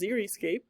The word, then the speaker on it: xeriscape: upon the driest ground xeriscape pronounced ziriscape comes from the Greek word xeros meaning dry xeriscape gardening is conservation